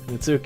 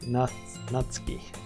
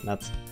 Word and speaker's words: Natsuki: There's 4 girls, but Mitsuki is my Alright, I guess we have people who are quite passionate about this. It's pronounced more like Natsuki. Oh, Natsuki.